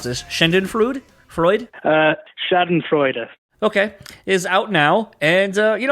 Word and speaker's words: Schadenfreude: So we had the pleasure of talking to Josh Newton, guitarist of Shiner, whose latest record, I'm going to probably mispronounce this, Schadenfreude? Schadenfreude.